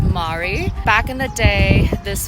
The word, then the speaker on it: Mary: It's spelled like the name Mary, but it's pronounced Mari.